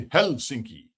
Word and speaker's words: Helsinki: The Finns always pronounce like we say Helsinki. The Finns say Helsinki, right? They emphasize the first syllable.